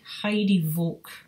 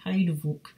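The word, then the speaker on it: Heidevolk: exactly but it's it looks to me like heidi volk or heidi volk h e i d e v o l height hide-a-vote um and i think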